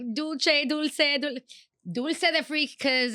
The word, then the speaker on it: dulce: Oh, is it dulce like Italian? Well, you know how, potato, however you want to say it. Dulce. That's how you say it. Because like dulce.